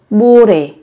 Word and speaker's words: 모레: Đây là phát âm, các bạn sẽ phát âm không hẳn là giống như là âm m mà giống như là âm b các bạn nhé. Không phải là mô mà sẽ giống như là bu, bu đề, bu đề.